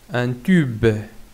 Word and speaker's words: tube: B plus E, be, un tube, un tube. Même si je prononce ici be, ici tube, b, parce que le E, il se trouve à la fin du mot, est une lettre muette.